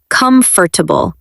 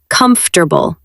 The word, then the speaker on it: comfortable: Many people say comfortable, but it sounds more like comfortable. Comfortable. Let's say it again. Comfortable. It is shorter than it looks.